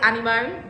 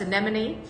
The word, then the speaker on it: anemone: and the color and i say animone but it's anemone which is the official actual official name can never say it